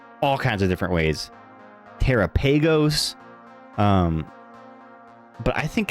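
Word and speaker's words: Terapagos: Terrapeagos. Um, but I think it's I think it's Teropagos cuz it kind of rhymes with uh Galapagos, like the Galopagos Islands.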